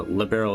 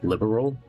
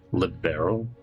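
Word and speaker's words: Liberl: Uh Liberal is supposed to be how it's pronounced. Some they for some reason here they're pronouncing as liberal with three syllables. It's supposed to be a two syllable word. Liberal, not three syllables.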